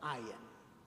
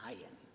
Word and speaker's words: ayin: It's very, very difficult to pronounce it. It's actually, if you really, really work at it, it's the sound you make just before you vomit. It's called a glottal stop. It's a hard glottal stop.